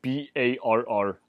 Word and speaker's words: barritus: Ammianus spells it B-A-R-R-I-T-U-S.